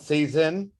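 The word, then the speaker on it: seisin: on this one season cezanne season it's called season that's how you pronounce it it's a noun possession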